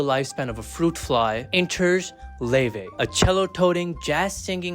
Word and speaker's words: Laufey: Born Lee Lin Hter, pronounced Ley, not Loafy.